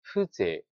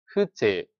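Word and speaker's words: 風情: 那么在这个单词中两个读音都较为特殊，念 Fuze Fuze，呵是短音，情是念作 z。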